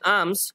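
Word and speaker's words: alms: প্রথমত বলে রাখি এই যে আর্মস, ঠিক আছে, এখানে দেখো একটা এল রয়েছে, কিন্তু এর এল এর উচ্চারণটা আমাদের এখানে উজ্জ থাকবে। ঠিক আছে, তো উচ্চারণটা হবে আর্মস, ঠিক আছে, এলটার এখানে উচ্চারণ হবে না।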